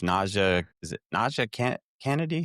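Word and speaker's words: NiJaree: Now is it it's Nea? Is it Na Kennedy? How do you pronounce her name? Najiri.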